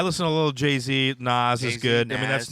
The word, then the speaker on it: Nas: white you are dude you say n Nas whatever that's so close to NZ people are n reminds me of nitric oxide so you know exactly Jesus God I'm sure that's spelled with an S NZ he said NZ that's because I heard somebody else say NZ well they're an idiot it's Nas he was Puerto Rican